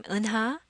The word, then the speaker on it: Eunha: The vowel sound over here does not exist in English. The easiest way to learn to say my name correctly is if you were to imagine yourself being punched in the stomach, you'd probably make a noise like uh, and that's that sound.